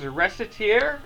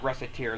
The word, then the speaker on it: Recettear: But I've always heard it pronounced as Recettear, and kind of conventional English spelling wisdom would suggest to us that a C between two E's is going to make a S sound.